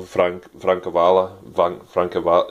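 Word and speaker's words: Francavilla: I got artwork by Scott Snyder, Jock, who is probably my favourite DC artist, and Francesco Francavala, yeah, that's how you say it.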